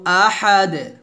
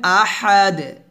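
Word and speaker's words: أحد: এখানে হবে না বলবেন আহাদ এখানে আছে আহাদুন দাল দুই পেশ দুন আছে আর হবে আহাদ এর ডালটা কলকল হয়ে যাবে আহাদ আহাদ এভাবে আমরা অনেকে এখানে আহাদ বলি আহাদ বলবেন না বলবেন আহাদ এভাবে আমার সাথে বলেন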